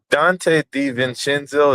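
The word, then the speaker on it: Donte DiVincenzo: Dante De Vincentzo, is that how you say his name?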